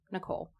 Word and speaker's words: Nickcole: people to remember it it's basically like two names Nick and Cole put it together Nicole and last name